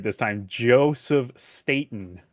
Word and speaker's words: Staten: Before Yeah, and say his name right this time, Joseph Staten. Staten. I can pronunciate names sometimes.